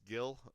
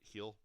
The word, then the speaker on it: Gil: Awards went to Luis Gil of or Hill I guess not Gil but heel of the Yankees and